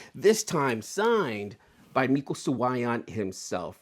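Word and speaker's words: Suayan: Sawayan, remember that. Not Suyin, not Cyan, Sawayan. He even told me there at the con, he's like, yeah, people always mispronounce his names. Sawayan. Not so much with the Y, okay?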